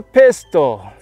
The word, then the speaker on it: pistil: It's the pistil. And the pistil kind of sounds like a gun, but it's spelled a little different.